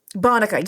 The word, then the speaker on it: Bonica: system works is Adam Bonica, how do you pronounce this last name, Adam? Bonica? Bonica, yes, thank you.